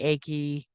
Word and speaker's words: Ake: and of course the first case we're going to look at is egg versus Oklahoma it could be achy it's pronounced different ways uh 470 US 68 1985.